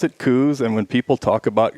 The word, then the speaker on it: Coues: when someone says it's it's supposed to be coos well that's it's just patently false it's supposed yeah it's supposed to be cows and you can pronounce it any way you